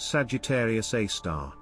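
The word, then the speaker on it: Sagittarius A*: Within the central bulge, at its very core, resides a supermassive black hole known as Sagittarius A, pronounced Sagittarius A star.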